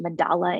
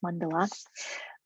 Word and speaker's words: mandala: of the word mandala, which also often gets pronounced mandala in English, right? But it's mandala.